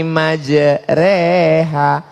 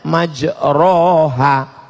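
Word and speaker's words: مجريها: membaca email lah bismilahi majreha tulisannya majroha Tapi bacanya miring Bismillahirrohmanirrohim reha namanya Imam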